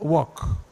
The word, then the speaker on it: walk: The first one is pronounced work. Somebody say work. I want to work. But the other one is pronounced walk. Walk.